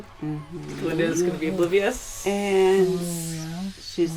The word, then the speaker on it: Glinda: Linda? Simply Glinda.